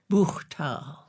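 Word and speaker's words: Buchthal: You pronounce it for me then. Buchtal.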